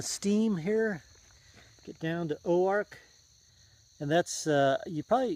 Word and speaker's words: Oark: been hearing me say Oar so it's it's like Ozark but without a z so o a r k and they pronounce it Oar instead of orc orc orc um so